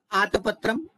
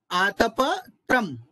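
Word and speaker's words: आतपत्रम्: एक आतप तम तो आत पत्र इस इस तरह बोलते हैं पर आपको जब बोलना है शुद्ध उच्चारण करना है तो क्या बोलना है एक आतप तम आतप और त्रमं करके भूल हो जाती है अभी मेरे से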